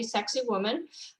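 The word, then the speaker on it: Sacsayhuamán: guide explained to me to know how to say it you just say sexy woman um but i i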